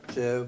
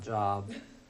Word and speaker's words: Job: It's pronounced Job with a long O, not Job.